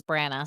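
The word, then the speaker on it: Brannagh: Brena and Dagden. That's how graphic audio says Brana. So that's what I'm going with.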